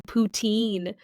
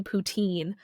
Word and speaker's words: poutine: about it I'm not every time someone says a poutine I don't go you have to say it like Puttin I don't do that